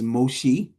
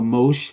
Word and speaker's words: Moshe: Um, his Hebrew name was Moshe, or Moshe, however you want to pronounce that, with the Bible link verb as Masha, still meaning drawn out.